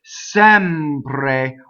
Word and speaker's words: sempre: So sempre, open E. The accent is on sempre. Notice the ampre, how even the M is legato going into the P and the rolled R.